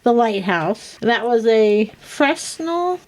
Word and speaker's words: Fresnel: That was a Fresnel. Fennel. No, Fresnel. Fennel. That's why it's a French name. That's why it was named after the inventor of the lens, Augustin Fresnel from France.